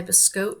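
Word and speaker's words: Biscotte: on rivalry it's by biscot Yarns some people like to pronounce it biscotti but it's actually biscot Yarns up in Canada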